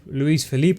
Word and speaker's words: Luiz Felipe: rather go with some of the louise of luiz felipe that's how you say his name if you